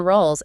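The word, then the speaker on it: Rowles: That's Adrien Rolls and the surname is spelled R O W L E S.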